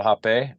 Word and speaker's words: rapé: No, that you don't have to do anything, but it's called hape, and it's spelled RAPE, like rape, but Mm-hmm.